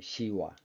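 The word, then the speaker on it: शिव: 얼굴은 전부 시바 신이에요 사실은 그 인도 쪽에서는 시아라고 발음합니다 시바라고 발음하지 않아요 시와 그리고 신 암소 신말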